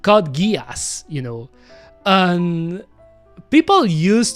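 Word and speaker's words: Code Geass: Funnily enough, some of my friends uh especially French friends, they pronounce it Kodgis, you know, but it's not pronounced codgiz. It's pronounced codgas, you know, and people used to joke about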